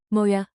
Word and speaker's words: Må jeg: A moya.